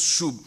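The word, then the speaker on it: שוב: qui prennent des notes mais ça se prononce chou et ce verbe hébreu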